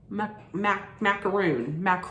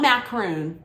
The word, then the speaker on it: macaron: You know, a little macaron, not macaroon, Macron.